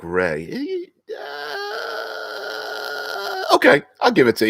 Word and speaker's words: RAI: RAI is pronounced like Ray.